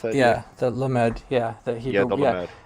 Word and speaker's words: lamed: How do you pronounce that, Jay? Yeah, the lamed, the Yeah, Hebrew, the lamed.